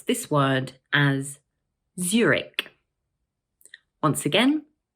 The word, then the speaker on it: Zurich: This word is also made up of two syllables, and the first one is stressed.